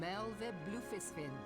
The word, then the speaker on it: Merlwyb Baderon: I am Merlwyb Baderon, Admiral of Limsa Lominsa.